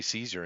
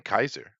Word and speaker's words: Caesar: meaning and of course if you want to go with the Original Latin we say Caesar in English but it would have been it would have been Kaiser that would have been the Latin pronunciation much cooler Kaiser it